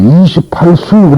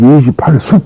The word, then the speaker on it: 28수: 그러니까 이걸 숙이라고 읽어서는 안 되고 수라고 읽어지 28수 그래야지 28숙 그러면 안 된다는 얘기죠.